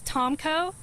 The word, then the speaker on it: Tomko: That's spelled A-N-G-E-L. Last name is Tomko, T-O-M-K-O, and I'm the spokesperson for the 3rd Infantry Division.